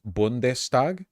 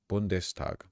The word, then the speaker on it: Bundestag: guy was basically torpedoing all economic initiatives it's pronounced bundestag is it really huh bndes bundes where is it where is it spelled